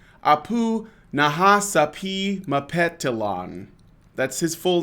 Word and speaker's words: Nahasapeemapetilon: it's not just a poo it's a poo Nahasapeemapetilon that's his full name okay and it's spelt exactly as it sounds yes so and